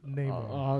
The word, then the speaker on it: Namor: It's Namor.